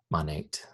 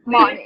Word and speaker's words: Monat: Monat. Now you'll have it for all the next one. Can I say it like that? Monat.